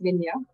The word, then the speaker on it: Minja: I'm fine with any pronunciation. It's Minha, but it's anything is fine.